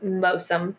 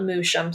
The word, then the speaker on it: Moosham: It's not spelled like it sounds. It's Mosum, not Moosham. So if you have the subtitles up, which I did because I need subtitles these days, I'm too old to not have them on. It's spelled like Moosham, but it's Mosum.